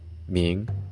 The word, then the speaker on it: 茗: Ancient Chinese had several terms for it, pronounced in modern standard Mandarin as tu, jia, shi, ming, and quan.